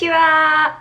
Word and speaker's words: Laura: Japanese people for who it is hard to say Laura properly, so they started saying instead. In a lot of cases, when they try to say my name, it sounds more like, rather than Laura.